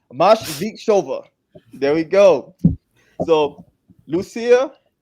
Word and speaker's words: Moskvicheva: Make sure I pronounce the name right. Moskvicheva. There we go. So, Lusia Moskvicheva, the Happy Life Strategist, is a leadership and